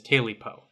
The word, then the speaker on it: Tailypo: bones sometimes ta paw but the common uh pronunciation is TA po bones and PAW sound like a good start